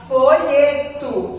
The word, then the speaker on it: folheto: Esse O aqui, a gente pronuncia com som de U. Por quê? Porque a sílaba tônica, a sílaba forte dele é o folheto. É o lhe. Então, não foi a última sílaba. Se fosse a última sílaba, eu pronunciaria com um tó.